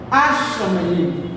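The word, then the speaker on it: השמים: So the heaven will be written as forte, Asha Mayim, Ashamayim. Don't forget that the forte here already doubled the consonant, so your pronunciation will be double.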